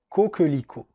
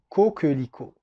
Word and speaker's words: coquelicot: On continue avec un mot qui est très beau, c'est une fleur, qui est le coquelicot. Le coquelicot.